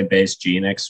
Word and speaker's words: Bass Genix: For me, I also have a lot of people say Base Genix, which is fine, honestly. Okay. Because, like, it's one of those things that it's just pronunciation, really. It's like tomato, tomato.